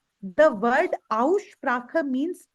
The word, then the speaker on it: Aussprache: We are going to start with Aussprache. The word Aussprache means pronunciation.